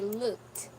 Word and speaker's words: looked: That's why the pronunciation of ed is the soft, okay? Yeah, so you say looked.